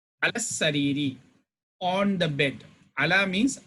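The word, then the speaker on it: على السرير: But sin is a huruf shamsiya, we will not read lam. Lam will be silenced in pronunciation. Alas sariri, on the bed.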